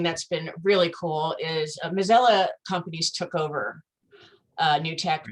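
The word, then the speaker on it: Mazzella: And how did you pronounce it? Mozilla.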